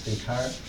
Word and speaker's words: Descartes: French is Descartes. The pronunciation is yes.